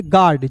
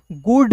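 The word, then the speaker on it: guard: ए आर डी तो जी का ग यू यहां पे साइलेंट होगा तो ए का उच्चारण आ के रूप में डी का ड ए है तो रेफ लगा देंगे गार्ड जी यू ए आर डी को गार्ड गुड नहीं पढ़ेंगे फिर देखिए यहां पे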